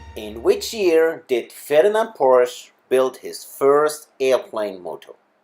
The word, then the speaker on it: Porsche: So, and the proper pronunciation is Ferdinand Porsche.